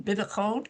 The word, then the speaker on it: bitachon: It's imuna is faith in God, and the other one, bitachon, did I say it right? He says it's okay, is trust.